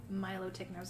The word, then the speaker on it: Milotic: their own i suppose i feel like i want to pronounce it more like melodic you know like melody kind of thing so not milo tick and separating out the parts reverse cut and bernie